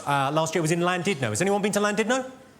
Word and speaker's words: Llandudno: thunder, went, "It's not landed, no. You bloody fool. It's clandid, no. In Wales, the double L is pronounced with a C."